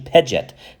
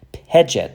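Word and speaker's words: pḏt: It's actually Pejet. Pejet. This is how it's pronounced.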